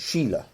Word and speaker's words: Shayla: a character a Browns Shayla is pronounced Sheila all right so I